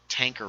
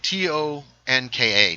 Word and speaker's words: Tonka: ghost from the spot uh I know what tanker was there were video games about them tanker Oh Tommy punkin chunker T o NK a Tonka is what is how it's spelled it